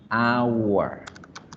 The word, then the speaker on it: hour: Ustedes dirían, eso es un diptongo, pero resulta que la palabra hora se pronuncia con un triptongo. Miren acá, agua, hour. Suena la A, la U y la A, ¿cierto? Hour, hour. Eso sería un triptongo.